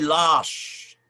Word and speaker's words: lâches: "Nous n'étions pas des lâches à Sedan." I pronounce it with a bit of an accent there, because when you have a circumflex over the A, it makes it a longer sound.